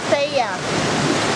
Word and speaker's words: Thea: I'm Thea. Thea. How do you spell your name? How do you spell it? Spell? Yeah. T-H-E-A. Oh, Thea or Thea.